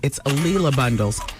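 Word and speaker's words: A'Lelia Bundles: I was saying her name wrong at first. It's Ailia Bundles.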